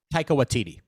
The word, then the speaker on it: Taika Waititi: it off, because I like how do you pronounce the director's last name again? I'm sorry. Taika Waititi.